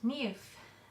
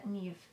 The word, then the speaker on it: Niamh: be nice number eight NE a Irish name very difficult to pronounce from the spelling but NE n i a m h uh I think it's